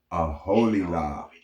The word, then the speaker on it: Aholiab: It's generally said as a holy Aholiab. on how to pronounce more confusing words and names too many mispronounced.